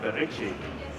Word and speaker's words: Berici: Right, and first up from the companies is, I hope I will pronounce it right, Berici. That's correct.